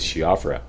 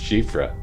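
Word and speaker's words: Siofra: said it's she offers so I went with shiafra but um I've been told by people who all who are Irish that is pronounced shifra uh so all this time I guess I've been mispronouncing at humble apologies but I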